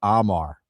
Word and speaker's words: Omar: His name is pronounced Amar.